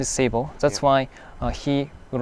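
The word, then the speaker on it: 聖母: Seibo.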